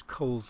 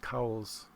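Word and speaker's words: Cowles: atmosphere oh there's there's Cole's mountain people pronounce it cowls c-o-w-l-e-s I guess the guy that the mountain is named after pronounced his last name Coles but that's a that's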